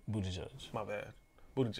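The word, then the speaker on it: Buttigieg: shows Hickenlooper Ainsley Delaney Budda gig he pronounced it bougie judge my bad mood there's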